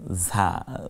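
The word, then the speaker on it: ز: নেই কিন্তু দদ উচ্চারণে, তারপর ঝা, যেমন ঝামেলা, ঝিঝি, ঝগড়া, ঝই ঝই, এই শব্দগুলো বাংলায় যখন আমরা ঝ দিয়ে যেমন বলি, ঠিক তেমনি রয়ের পরেরটাকে আমরা এভাবেই ঝা বলবো।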